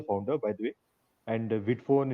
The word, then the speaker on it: Vidphone: I'm assuming that's how we pronounce it, right? Uh, initially, Yeah, I was Vidphone is correct. Vidphone is correct.